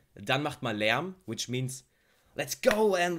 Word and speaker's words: Lärm: Ooh, it was good, and I believe Lärm. Lärm is a hard word to pronounce, Lärm, because it has like an ä. This letter, ä, doesn't exist even in the English language, so it's hard to pronounce.